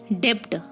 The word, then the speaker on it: debt: is a great plumber the next one is debt or debtor it's not supposed to be dipped